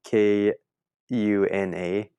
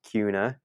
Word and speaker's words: Kuna: in this town called Cuna it's spelled k u n a so I was calling it kuna like Hakuna Matata so I was saying